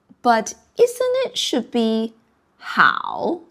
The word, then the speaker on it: 好: How, but isn't it should be 好 like in 你好? Okay, so this character, it has two pronunciation. When it pronounced as 好, it refers to the hobby. When it pronounces 好, it refers to good.